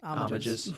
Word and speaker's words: homages: Homages. Don't pronounce the H.